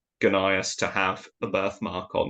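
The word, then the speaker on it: Gnaeus: It doesn't have an E here, it just goes GN, and at certain points some people argue it's pronounced as Nias and not as Gunias. But in fact there is actually evidence that in later Latin you did pronounce the G and it was Gunias.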